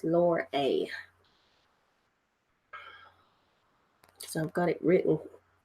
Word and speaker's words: Lorelei: It's Lorelei. So I've got it written the way I can pronounce it in the book.